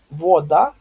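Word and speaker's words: woda: Вода, а не вода, да? То есть вода, ударение вот сюда.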